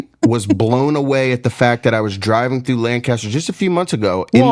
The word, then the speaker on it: Lancaster: It's Lancaster. Lancaster. Yes, thank you. So Lancaster is more what the pronunciation is like. Lancaster. Yes. Yeah. Don't go Lancaster. That's in California, not Pennsylvania. Correct. Yes. Or the UK.